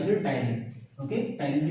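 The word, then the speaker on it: ptyalin: टाइलिन की spelling PTYLIN से शुरू होता है, ओके।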